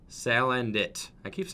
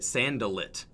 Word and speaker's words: Salandit: Salandit. I used to say it Sandalit, but so I'm getting used to saying it correctly. I definitely was mispronouncing that for a long time.